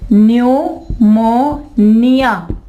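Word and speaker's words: pneumonia: अब नमोनिया कहते हो ना इसमें आप अपनी जुबान में, उर्दू में, तो इंग्लिश में इसकी स्पेलिंग देखें, पी आएगा यहाँ पे, ठीक है। और न्यू, ठीक है, न्यूमोनिया, निमोनिया, ठीक है। यहाँ पे साइलेंट क्या है? पी और पी।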